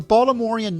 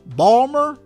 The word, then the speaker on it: Baltimore: going down the ocean nobody pronounces the T in the city's name it's never Baltimore it's either Balmer or Baltimore and Maryland